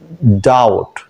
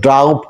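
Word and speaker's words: doubt: যেখানে be silent থাকবে যেমন ডাউট আমরা যদি বলি ড্রাউড তাহলে কিন্তু ভুল হবে কি বলতে হবে বির সাইলেন্টটা আমাদের শনাক্ত করতে হবে এই বি অনুচ্চারিত থাকবে তাহলে আমরা কি বলতে পারি ডাউট নো ডাউট নো ডাউট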